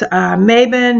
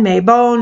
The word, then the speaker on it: Mabon: I wish Fall Equinox Mabon May bone Mabon however you like to pronounce it I call it